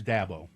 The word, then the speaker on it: Dabo: Jimmy John says da like dad bo without the d. Mhm. So, it's dabo.